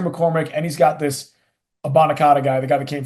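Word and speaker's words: Abanikanda: from the Jets you nailed it actually it's a bonaca okay perfect nailed it you just call him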